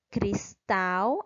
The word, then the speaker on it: cristal: palavra cortador cortar dor cristal a sílaba mais forte é o tal então quando a última